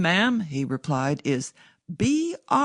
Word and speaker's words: Brindlebury: "My name, ma'am," he replied, "is Brindlebury. Brindlebury. Pronounced Brimba. The old Sussex name with which, ma'am, I have no doubt you, as a student of history—" Mrs.